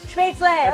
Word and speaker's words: Spätzle: Spätzle, okay.